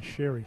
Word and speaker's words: Sherry: It's Tristan Sherry, so that's the right pronunciation.